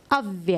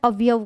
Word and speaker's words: अव्यय: नाम से जानते हैं अव्यय मैं इसको क्वेश्चन हमेशा भव्य के नाम से पूछा जाता है और सेकंड अगर बात करूं तो कई बच्चे इसका उच्चारण अवयव करते हैं अब यह साइंस के